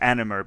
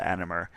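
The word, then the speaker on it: anomer: So um animer by the way is spelled a n o m er and that's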